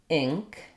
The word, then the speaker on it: ink: the e sound but you can hear how in ink or pink ing um because my tongue is high in the back for my getting ready for my M sound it may lift my ifs on as well but it doesn't lift it all the way to an E I'm not saying pink or ink there's no e tense quality to it um it's not it's definitely still the if vowel it's gonna just sound